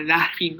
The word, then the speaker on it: laughing: Merely a laughing Peter. Okay. American A. Is it la or la? La. Okay. You La. drop it and you La. smile. Eh. Ah. Laughing.